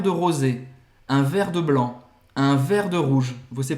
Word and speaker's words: blanc: No caso, você quer uma taça de vinho branco, un verre de vin blanc. Un verre de vin blanc. Você não vai pronunciar o C no final.